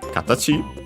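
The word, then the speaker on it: 形: And then a noun, katachi. I think unaccented or at most accented on the last syllable, we'll see. It means form, shape, figure. Yeah, actually unaccented, so I was correct.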